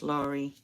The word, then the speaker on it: Lori: didn't break down yeah it's Lori pronounce Lori perfect I got it right yay nice to meet